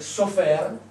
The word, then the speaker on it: sofer: ci metto due E, questa parola diventa sefer, che vuol dire libro, documento, scrittura. Se io invece di questi segni qui ci metto questi e si legge sofer, diventa segretario, scriba, scrivano.